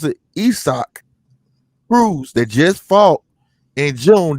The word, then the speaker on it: Isaac Cruz: this little dude named isaac cruz and they pronounce it esoc rules they just fought in june that would probably